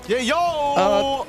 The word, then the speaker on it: Yayo: Yayo! That is his actual name, and that is how it's going to be pronounced moving forward here in MSC.